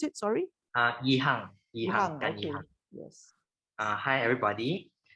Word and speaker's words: Gan Yihang: Did I say correctly or Gan Yihong? How do I pronounce it? Sorry? Yihang.